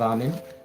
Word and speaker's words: Amen: Of course, you have Amen, truly spelled A-M-N, which is pronounced Am. Am is basically the sound.